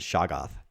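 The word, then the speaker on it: shoggoth: sure who this is a saga or shoghoth i've always pronounced it shaggoth but who who who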